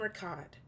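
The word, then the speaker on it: Riccadh: um so uh ripley says um i'm from ricott and that name does not spark anything for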